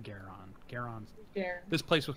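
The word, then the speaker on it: Gwaeron: There's a W in there, guys. But there's I'm sorry. Yeah, it's like G-W-A-E-R-O-N, but I think it's pronounced Garon.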